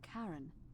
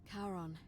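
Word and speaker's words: Charon: Only your pronunciation is a little off. The name you heard wasn't Karen. It was C H A O N as inh the fairyman of the dead. Kon, why was it why was she just like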